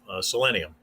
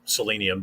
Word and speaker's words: Selenium: fancy new tool that he just heard of selenium or selenium depending on how you want to pronounce it excuse me and he he told